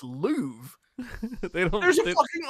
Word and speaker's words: Louvre: Did you say the Lorf?